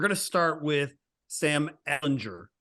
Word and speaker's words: Ehlinger: And we're going to start with Sam Ehlinger. I'm not calling him Ellinger yet. He's got to win a game before I pronounce his name properly.